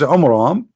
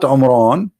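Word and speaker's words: Amram: the father of Moses, which is Umram, not Umran. Imram. Wrong pronunciation, wrong name. I mean, have you ever heard of a God?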